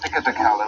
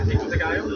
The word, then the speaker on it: pico de gallo: When you see a double L in Spanish, you don't pronounce it like 2 L's. You pronounce it somewhat like a Y, depending on what country you're from and everything.